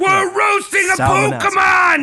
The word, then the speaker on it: Psalmanazar: There's a silent P. I don't know how that P is pronounced, if it is pronounced.